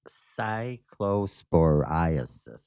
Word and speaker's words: cyclosporiasis: It's pronounced Cyclo-spore-eye-uh-sis. Cyclosporiasis. The pronunciation guide. You're close, Hammer. I got an assist from G Unit on that pronunciation. Again, it's Cyclosporiasis.